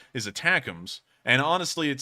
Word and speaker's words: ATACMS: I actually thought they were called ATACMS, but apparently the Army's actual official name for them and how it's pronounced is attackums.